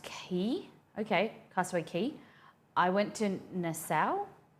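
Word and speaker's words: Castaway Cay: island in the Bahamas called castaway k but pronounced key okay Castaway key I went to Nassau not many good okay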